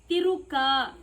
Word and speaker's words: ತಿರುಕ: ಎಷ್ಟು ಸಲ ಹೇಳಿ ಕೊಟ್ಟಿದ್ದೇನೆ ಉಚ್ಚಾರದಲ್ಲಿ ಸ್ಪಷ್ಟತೆ ಇರಬೇಕು ತಿರುಕ ರ ಹೇಳು ರ ತಿರು ತಿರುಕ ತಿರು